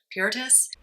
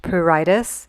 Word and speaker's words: pruritus: the third week i had what they call puritus it's actually pronounced pruritus but the bottom line is it's infernal itching